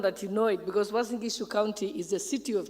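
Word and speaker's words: Uasin Gishu: When you introduce me, you couldn't pronounce my county. My county is called a member of parliament for Wasingishu County. And it's very important that you know it because Wasingishu County is the city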